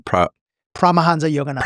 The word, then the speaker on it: Paramahansa Yogananda: Did, how do you pronounce his name? Paramahansa Yogananda.